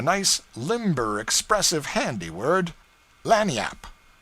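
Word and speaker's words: lagniappe: limber expressive handy word lanyap they pronounce it Lanny Yap it is Spanish so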